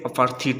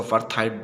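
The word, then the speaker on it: apartheid: जैसे यहाँ पे अपार्थीड लिखा हुआ है और कुछ लोग इसको अपार्थाइड बोलते हैं, तो आप जैसा भी चाहे प्रोनाउंसिएशन कर सकते हैं, नो प्रॉब्लम।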